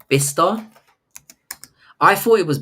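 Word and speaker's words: Bicester: No, it's called um it's called it's pronounced bister. I thought it was Bester, but it's Bister, I think it's Yeah, it's And that's in the UK.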